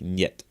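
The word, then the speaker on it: нет: The Russian word pet meaning no is pronounced with a hard e sound followed by a short e sound then a hard t sounding more like net.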